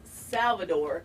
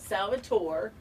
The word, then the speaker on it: Salvador: Salvador, by the way, would like you to know that it's Salvador, not Salvatore.